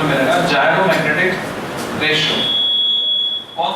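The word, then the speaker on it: gyromagnetic: इट is called जायरोमैग्नेटिक ratio, G by R O। Pronunciation क्या है, जायरो। कुछ लोग बोलते गायरो, गायरो नहीं बोलना, जायरो, जायरोमैग्नेटिक रेशियो।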